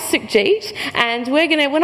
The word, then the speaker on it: Sukhjit: barrier of difference and really clap out the syllables in my name so my name is Suk Jeet and we're going to